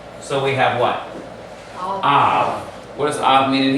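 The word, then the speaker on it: אב: So this creates a glottal stop, then closing off the syllable. So we have what? Av.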